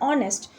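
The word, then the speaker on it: honest: तो यहाँ पे ऑनेस्ट आपसे बोला जा रहा है, तो ऑनेस्ट में एच जो है वो साइलेंट होता है। ठीक है, तो यहाँ पर ओ से हम रीड कर रहे हैं ऑनेस्ट।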